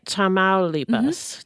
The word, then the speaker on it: Tamaulipas: Tamaulipas.